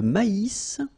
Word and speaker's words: maïs: L'avoine, le blé, here, accent aigu, et le maïs, so here you get this tréma, so maïs, maïs, and then you pronounce the final S, maïs.